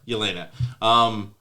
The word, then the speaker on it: Yelena: I love Elena. How do you say her name? Yelena.